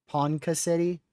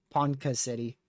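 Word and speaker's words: Ponca City: Panka City. So, it's pronounced more like a K, less of a C. Panka City.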